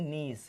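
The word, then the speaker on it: gneiss: ये बन जाती है नीस। ग्रेनाइट में ताप और दाब दोगे तो ये रूपांतरित में बन जाती है नीस, और नीस की स्पेलिंग ये होती है जी साइलेंट है इसमें, नीस, ठीक है।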